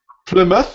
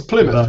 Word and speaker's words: Plymouth: Where is the schwa sound? Second O. The end. O. How do we sound it? Can you say it again? Plymouth. Plymouth. Plymouth. Plymouth. Very good. Okay. So the schwa is like yeah, Plymouth.